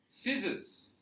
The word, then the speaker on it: scissors: conscience etc etc science scissors why why the scissors have this silent because it's coming from